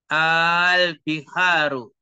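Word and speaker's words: آلبحار: panjang Al Apakah n albiharu jamul Bahri Apakah Bihar itu jamul Bahri Al harus panjang bacanya Al biharu jamul Bahri begitu ya harus dipahami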